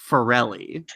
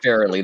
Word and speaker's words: Farrelly: it wrong I'm uncomfortable it's fairly the Farrelly Brothers know that's what I say cuz cuz my sister's name is Farrell and I'm pretty sure it's spelled the exact same a - the why so it's fairly is what I saw it so yeah it's not like there's one less L have you said there's